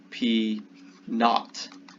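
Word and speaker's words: P₀: This subscript notation here is pronounced P naught, which just means P0.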